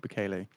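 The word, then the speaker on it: Bukele: It's again Trump meeting with El Salvador President Bele.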